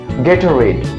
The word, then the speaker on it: Gatorade: Correct pronunciation of this drink is Gatorade.